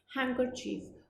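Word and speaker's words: handkerchief: वो क्या होता है, हैंकरचीफ। और यहाँ पे जो डी है ये साइलेंट होता है, तो इसका अगर हम प्लूरल करेंगे तो क्या हो जाएगा, हैंकरचीफ्स।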